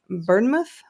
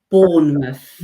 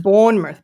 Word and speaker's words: Bournemouth: wrong the time before is it burnmouth or Bournemouth Bournemouth Bournemouth thank you like born identity okay Bournemouth okay awesome Stella is